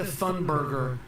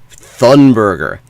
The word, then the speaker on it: Thunberg: Greta Thunberger. Who is Greta Thunberger? Jew Jewish. Get her name right. Thunberger. Teen Betty. At least don't add a syllable to it.